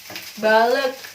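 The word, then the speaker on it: balık: itu ya dibaca E, tapi untuk E itu bentuk hurufnya seperti I, cuman dia bacanya E, kayak gitu. Kayak balek yang artinya ikan, itu dia pakai I tapi nggak pakai titik, kayak gitu.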